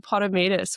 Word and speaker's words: Potamidis: She's an FMG bikini athletic pro and a coach, Rachel Potterus.